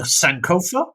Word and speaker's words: Sankofa: And I don't know, the modern dish using the Sankofa, is that right?